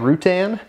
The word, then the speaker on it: Routan: We got one on a 2009 Volkswagen Routan. I think I'm pronouncing that right.